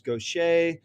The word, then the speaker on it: Gauthier: Because normally in New Hampshire, people will say Gauthier, and this hurts my heart a little bit. And the French pronunciation is Gauthier, but I am from Louisiana, and a Cajun French perversion of Gautier becomes Gaucher, which phonetically is a bit of a nightmare, but it makes for an interesting opening exchange.